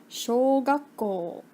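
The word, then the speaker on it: 小学校: Elementary school is pronounced shogakko.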